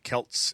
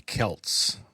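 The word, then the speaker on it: Celts: But the original word was a hard C.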